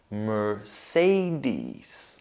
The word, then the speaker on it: Mercedes: Then the stressed syllable is say. Mersey. Say. Mersey. And we finish up with dies. Dies. So when we have all of these together, we say Mercedes.